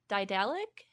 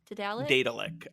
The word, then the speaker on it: Daedalic: Daedalic is how I pronounce it, but I think I might say Daedalic. No, I don't say man, Daedalic. That's ridiculous. Oh no, that's absurd. I can't. I think it's like I think it's like Daedalus.